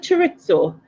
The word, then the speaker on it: chorizo: How do you even pronounce that? Is it chorizo?